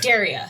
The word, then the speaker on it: Dariah: Daria.